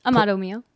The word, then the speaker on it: Amado: Did I pronounce those correctly? Close. Amado.